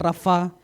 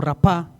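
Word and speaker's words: רפה: Y cuando dice quietos, esa palabra en el hebreo se puede pronunciar rafá o rapá, y prácticamente es eso, soltar, ceder, caer las manos.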